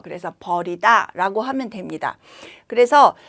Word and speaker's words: 벌이다: 벌이다라고 쓸 때는 소리는 어 버리다와 같은데 여기 긴 소리를내는 거예요. 그래서 버리다라고 하면 됩니다.